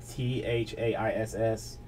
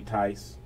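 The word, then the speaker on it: Thaiss: I mean, it's like T-H-A-I-S-S. I've called it Thais Thais, but people are telling me Tice.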